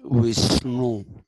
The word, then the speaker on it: Vishnu: Vishnu is actually written V-S-N with a dot on the N, U. So that's to be pronounced Vishnu.